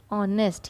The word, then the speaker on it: honest: Honest, here H is silent and the sound is O.